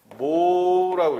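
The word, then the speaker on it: mho: 옴의 반대로 이렇게 써요. 이걸 뭐라고 읽어 이제? 모라고 읽어. 모.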